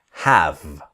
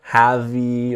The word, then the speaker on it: have: So the pronunciation is have. Never have-y or anything like this. The E is silent, so it's have.